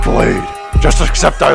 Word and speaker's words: bladee: first of all Jesse it's pronounced blade just except I like